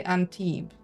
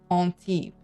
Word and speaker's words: Antibes: Okay, in English you say Antibes. How do you pronounce it right? Antibes.